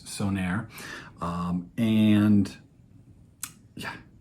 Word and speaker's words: Söner: brand I had to look up how to pronounce it it's sonir um and yeah it's pretty great uh we'll get into all that shortly but the brand itself sonir is started in 2016 and the brand owner